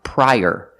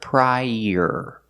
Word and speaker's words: prior: donuts also this word this word is pronounced prior using the long i pry and er like Burger link The Sounds together prior use the Y sound like in yellow to link the two vowels I prior prior prior